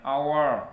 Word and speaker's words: hour: membacanya seperti huruf hidup, an hour ya, walaupun di depannya h tapi kita pakai n karena membacanya seperti itu.